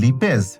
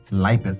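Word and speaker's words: lipase: vitamin right okay বলেন তো এটা কি লিপেজ নাকি লাইপেজ ওকে এটা কি ফিব্রিন নাকি ফাইব্রিন এটা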